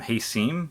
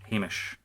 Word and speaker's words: Hamish: made of this video, I called him Hasim because I'm an idiot and I still like to try and pronounce his name like it's a fucking Middle East name. But no, I finally got it. It's Hamish.